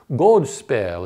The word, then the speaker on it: godspel: Godspell is how you would pronounce it in old English.